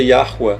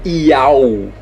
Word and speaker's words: Yahweh: A pronúncia disso é Yahweh, não é Iau.